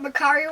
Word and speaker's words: Mercari: You know what Mercari rhymes with? What? It also kind of goes with the word Kalahari. Kalahari?